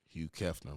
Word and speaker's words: Hugh Kefner: Hugh Kefner. Hugh Kefner, man. That's like Hugh Hefner with the reverse.